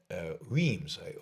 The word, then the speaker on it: Reims: Then I'll rent a car, and the event is at a university in Reims. I don't think that's how you pronounce it, R-E-I-M-S. The French pronunciation is definitely different, but it is in this area at Reims.